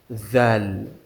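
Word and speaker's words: ذال: The same way we pronounce the letter of tha, that is how we are going to pronounce the letter of zal.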